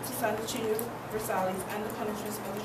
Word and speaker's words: Versailles: Versailles. That's all right. There are. I just wanted to put it on the video so you could hear it. So it's just simple Versailles. The L is not pronounced.